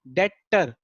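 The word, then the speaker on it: debtor: इसकी स्पेलिंग पड़ती है डेप्टर। बी यहाँ साइलेंट होता है, इसलिए हम क्या बोलते हैं? डेटर। बी साइलेंट है, उसकी आवाज नहीं आ रही है, तो डेटर बोलते हैं।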